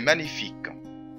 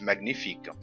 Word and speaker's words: magnifique: تمام قلنا قبل كده ان جي ان تنطق ني فقلنا مانيفيك ما نقولش ماجنيفيك سي مانيفيك تمام وزي ما انتم فاكرين ان احنا قلنا ايضا ان حرف الكي لو جه ورا حرف الاي حرف الاي لا ينطق ما نقولش مانيفيكو انما نقول مانيفيك سي مانيفيك جو في